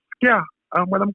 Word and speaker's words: ska: We don't pronounce it ska as the British do. We pronounce it skia.